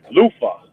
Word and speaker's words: Luther: You gotta say it like your front tooth is loose. Luther.